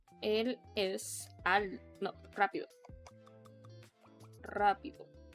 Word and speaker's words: rápido: Rápido. You need to roll your R's.